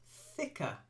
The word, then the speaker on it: thicker: good well done then thicker not think there's no n there thick try saying thick